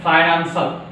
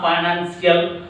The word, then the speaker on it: financial: This one, financial. It's not financial. We are pronouncing wrong. It's not financial. It's a financial. What is that? IAL. It's called SA. Financial. It's a. How many syllables are there? 1, 2, 3. It's a trisyllabic word.